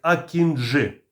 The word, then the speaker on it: акінджи: і важкий ударний безпілотник акінжи наголос на останню букву для компанії байкаar важливо